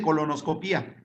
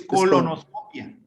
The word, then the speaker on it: colonoscopia: es que no lleva acento en la I, ¿eh? No se dice colonoscopía, es colonoscopia.